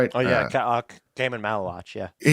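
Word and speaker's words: Maluach: Malawok. Is that right? Oh, yeah. Damon Malawatch.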